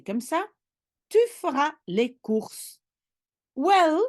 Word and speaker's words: cours: Yeah, les cours, cours is courses when you don't pronounce the S at the end.